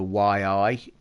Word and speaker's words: Yi: not a GoPro um it's called a Yi it's pronounced y i they're the best ones